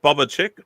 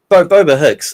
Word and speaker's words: Boba Hicks: Is it Boba Chick? Boba Nick? Boba Hicks. It's a combination of like Boba from Star Wars and then Hicks from Aliens is what it is.